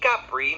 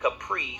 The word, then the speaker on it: Capri: to admit when I'm wrong but the Italian pronunciation is technically Capri not Capri so name pronunciations aside the drink did provide